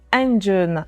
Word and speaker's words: Andjeun: On en parlera au cours de cet entretien, mais commençons déjà par votre dernier bébé, votre dernière création, Engine. C'est ainsi que l'on prononce.